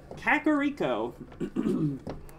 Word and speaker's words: Kakariko: place CAC Oh Riko Kakariko I think I always wanted to say like karaoke when I was a little kid because it's just easier